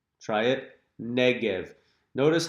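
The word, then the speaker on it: נגב: We call it the Negev. Try it. Negev.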